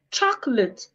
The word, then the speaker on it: chocolate: Chocolate, the second O is silent.